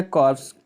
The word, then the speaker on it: corps: अगला शब्द आपका है कॉर्प्स। कॉर माने होता है कॉर, पी साइलेंट है इसमें, पी और इसमें कॉर इसको पढ़ा जाता है, PS साइलेंट है।